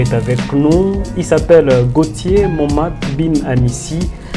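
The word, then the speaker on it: Gauthier Moma: Nous avons l'habitude de dire aux invités Gautier Moma euh je sais pas si j'ai bien prononcé votre nom.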